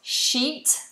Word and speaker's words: sheet: recognize um please pronounce sheet like a sheet of paper which is a piece of paper a bed sheet goes on your bed obviously if you shorten the vowel it becomes a swear word it becomes naughty